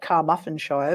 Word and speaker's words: Carmarthenshire: Now, in June of that year, Christine was making a coffee in the kitchen at her house in Ammanford, Carmarthenshire. Oh, sounds like Carmarthenshire, but never mind.